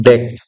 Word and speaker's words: deque: Nah, deway diucapkan deck.